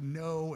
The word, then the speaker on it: Ngo: The last name is like NGO. It's like no."